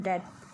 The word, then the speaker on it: debt: Debt means होता है कर्ज, इसे debt पढ़ते हैं, इसका रियल प्रोनाउंसिएशन डेट.